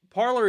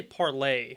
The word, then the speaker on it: Parler: this valuable so uh this parlor is what or I should say parlay which by the way is how they intended it to be pronounced but then they shouldn't have put an r at the end of it I know I don't